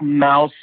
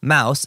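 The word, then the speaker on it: Maus: i was asking uh why was the book mouse like why did it get banned thanks thank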